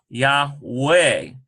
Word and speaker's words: Yahweh: Y-A-H-V-E-H, Yahweh. But this is more of an ancient pronunciation. This is why we get Yahuwah or Yahweh.